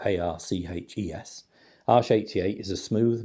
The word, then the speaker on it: Arches: Arches is spelled A-R-C-H-E-S.